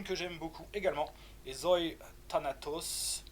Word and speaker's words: Euthanatos: Une que j'aime beaucoup également est Zoe Thanatos, ou Euthanatos, vous pouvez le prononcer vraiment à la grecque stricto sensu.